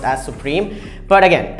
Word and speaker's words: SUPRIM: And it's not pronounced as Supreme, it's pronounced as Supreme.